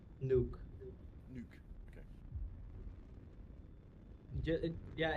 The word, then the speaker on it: Noek: So Nook. So Nook. Is it Nook you said? Nuke. Nuke. Okay. Yeah, it's closer to like the bomb than to whatever you were saying.